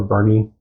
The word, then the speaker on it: Boerne: where the hell are we so we're in Bernie Texas born if you look at the map